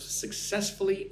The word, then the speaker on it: successfully: Four syllables. Successfully. Success. Put the emphasis on the second syllable. One, two.